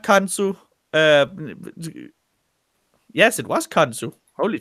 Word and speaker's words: Khonsu: And no, not Kansu. Yes, it was Kansu. Holy fuck. Yes, it's Kansu.